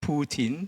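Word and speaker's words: poutine: I'm not sure Kijin Chin will agree with me, but yeah, this is probably the most famous dish and it's pronounced puin.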